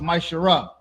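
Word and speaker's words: ma'aser: and Malachi 3 8-10 means 10th in Hebrew and it's pronounced myar 10% of every penny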